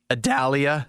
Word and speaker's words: Idalia: Idalia, is that how you say it?